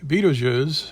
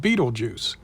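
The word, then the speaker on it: Betelgeuse: star to the left you'll find a lot of people will forget about the real pronunciation of the shoulder star and just call it beetlejuice lots of stars have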